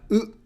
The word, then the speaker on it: う: In other words, it sounds just like U in Uno, the card game, or the number 1 in Spanish.